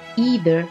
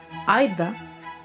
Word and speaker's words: either: process of vowel shift, which is now with an initial diphthong, I, so that the words are pronounced either and neither.